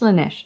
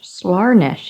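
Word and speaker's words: Slaanesh: It's pronounced Slanesh. Slarnesh if you're feeling posh.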